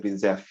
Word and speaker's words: Brezhnev: It's pronounced Brezhnev.